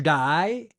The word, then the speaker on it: dye: Your two new words for today are to die and to bleach. To die spelled d ye even though it's pronounced the same as die like death.